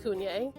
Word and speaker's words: CVNE: Yes, 2018 Cunye, CVNE, but pronounced Cunye.